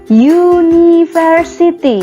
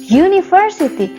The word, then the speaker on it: university: University. Ini dibaca university. University. Ini kan tulisannya a i u e u menggunakan u. Vokal. Tapi cara bacanya university.